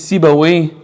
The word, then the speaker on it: Sibawayh: His name's Sibawayh. It's written in Arabic, but it's not an Arabic word. Sibawayh in Farsi means Seb.